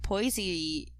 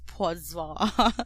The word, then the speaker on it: Poissy: And then he served time at Poissy prison near Paris. They probably pronounce it as Poisson because it's French. But I'm gonna pronounce it as Poissy. Let's dumb it down a bit and be Poissy.